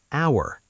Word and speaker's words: hour: Hour. H O U R. You say our not with an H sound.